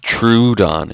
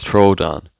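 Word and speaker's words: Troodon: being here and also it's not pronounced trudon it's Troon and again it doesn't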